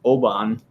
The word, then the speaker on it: Obon: I'm sorry I'm interrupting you yeah spirits of Oban that's how you pronounce it and if Hannah Obon season July